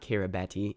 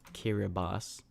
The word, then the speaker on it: Kiribati: It's not Kiribati, it's Kiribati. Yup.